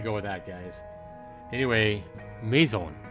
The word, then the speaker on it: maison: Anyway, Maison.